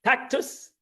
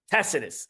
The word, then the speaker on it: Tacitus: was written by tactic tactus am I saying this tactus right tacitus I didn't say it right tacitus tacitus an historian of the